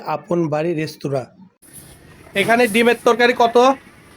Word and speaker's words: আপন বাড়ী রেস্তোরাঁ: আপন বাড়ি রেস্টুরামবাড়ি আপন বাড়ি রেস্তুরা উনার উচ্চারণ করতে ভুল হচ্ছে দোকানটার নাম হবে আপন বাড়ি রেস্তুরা এখানে ডিমের তরকারি কত